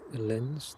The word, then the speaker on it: Linz: Looks like that one is out to Linz this evening. That's how you pronounce it.